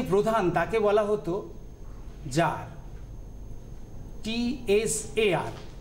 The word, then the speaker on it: tsar: তেমনি এক একটা অঞ্চলের যে প্রধান তাকে বলা হতো জার, TSAR। প্রোনাউন্সিয়েশনটা দেখে নিতে হবে, তার স্পেলিংটাও জানতে হবে, জার।